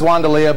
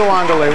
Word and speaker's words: Wandalea: Okay, the sign says Wandalea, but it's pronounced Wandalea, correct? Right. So that when I do that, everyone doesn't say, ooh, he's so familiar.